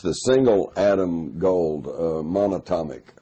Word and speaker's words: monatomic: uh you know the the the monochromic gold monotonic how do you say it the um it's the single atom gold uh monatomic monatomic gold orbitally rearranged monatomic gold single atom U